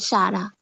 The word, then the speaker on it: Shara: So is it pronounced Sarah instead of Shara?